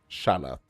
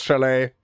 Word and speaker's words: chalet: Shalot. Or is this chalet or something? Yeah, it's chalet. So, it's bouet, wallet, mallet, chalet.